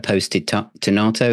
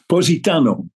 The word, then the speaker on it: Positano: the next one uh posted tonato is it n um the next track um I probably not pronouncing that very well POS it Oho I think it is Positano that's it thank you